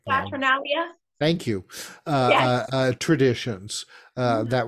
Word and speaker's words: Saturnalia: the was, how do you pronounce it, Saturnalia. Saturnalia.